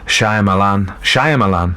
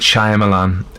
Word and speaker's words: Shyamalan: Night, I can't say his name, Shyamalan, yeah, M. Night Shyamalan.